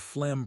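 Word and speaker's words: phlegm: A chesty cough or productive cough is when you have flem pronounced fleg. The G is silent in your lungs.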